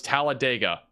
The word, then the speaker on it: Talladega: big- Time tornado right now moving Northeast towards Talladega guys I got it you're welcome got the pronunciation yeah this this is a big time